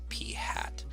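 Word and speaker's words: p̂: a little caret symbol above it and we pronounce that as P hat you're used to seeing this before we did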